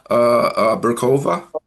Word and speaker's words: Berkova: And am I pronouncing your last name correctly, Renato? Berkova?